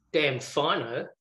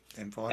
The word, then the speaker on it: Damfino: Pronunciation, it's Damfino. Mm-hmm. Right. Damn fine. As in, damned if I know.